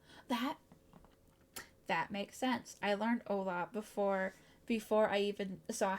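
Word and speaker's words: hola: Ola. That makes sense. I learned Ola before I even saw how it was spelled, and I was always wondering why the H wasn't pronounced.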